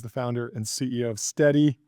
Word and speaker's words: Stedi: I'm the founder and CEO of Steady. It's spelled spelled S T E D I.